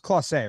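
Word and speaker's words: Clase: is coming together right now and uh it's pronounced clause a right yes why what's up with karen check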